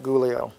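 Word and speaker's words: Giulio: day we're in uh gulio miti is spelled GI IU L IO I know it doesn't look like gulio and his last name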